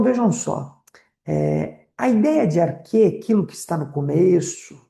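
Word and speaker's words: arché: do que é arqué, que se escreve A-R-C-H-E, acento no E, né? Então vejam só, a ideia de arquê, aquilo que está no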